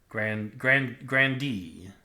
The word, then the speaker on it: grandee: Oh, I didn't even look up how you pronounce that dang thing. Grandee.